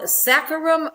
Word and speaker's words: Saccharum officinale: It is called Saccharum officinale. Saccharum officinale. So it's Saccharum, Saccharum, and then officinale, Officinale.